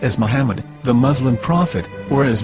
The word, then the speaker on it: מחמד: According to Ben Yehuda's Hebrew English Dictionary, It is correctly pronounced as Muhammad, not Mamad. So how we're going to know for sure if it's pronounced as Muhammad, the Muslim prophet, or as Mamad, a random Hebrew word?